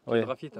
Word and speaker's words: Piedrafita: Non, c'est pas un deux mots, c'est un seul mot. Piedra Fita.